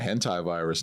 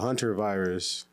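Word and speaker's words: hantavirus: It's not the hentai virus. It's the etchy virus. It's the hunter virus.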